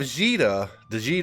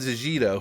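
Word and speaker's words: Djeeta: She is an incredible single target damage character, and you also have Jita, I think the D is silent, so I never heard it pronounced, but you also have Jita, who is a really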